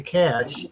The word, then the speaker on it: cache: and like the word cachet, or some people say cash, which Yeah. is it's spelled CACHE. The French way of saying it, if I'm not mistaken, is cachet, Hmm.